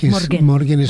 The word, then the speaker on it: Morgen: ¿Cómo se pronuncia? Morgen.